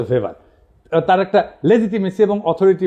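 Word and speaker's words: ভেবার: না আরেকজন দার্শনিক আছে ম্যাক্স ভেভার এটা ওয়েভার বলে অনেকে এটা উচ্চারণ আসলে ভেভার তার একটা লেজিটিমেসি এবং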